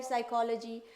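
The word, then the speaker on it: psychology: तो होगा ही होगा सिर्फ हम लोग शाई बोलते हैं पी साइलेंट होता है पी एस वाई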